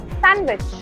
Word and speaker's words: sandwich: Again, the D is silent, so it becomes sandwich.